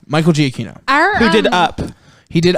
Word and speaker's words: Giacchino: Giacchino. Michael Giacchino.